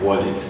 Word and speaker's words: wallet: It's not wallet, of course, it's wallet.